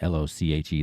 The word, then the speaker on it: Lochi: It's @ryanlochi, r y a n l o c h i. That's how you pronounce my name, by the way, Lo-chi.